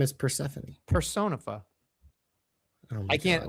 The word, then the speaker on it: Persephone: Then why don't they just spell it like Stephanie? Persephone. Her name is Persephone.